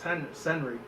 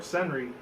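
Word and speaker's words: Cerny: I think that's how you say it, not Henry, but it's Senry.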